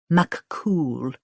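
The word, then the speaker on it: Fionn mac Cumhaill: She spelled it for Lottie. Pronounced McCool.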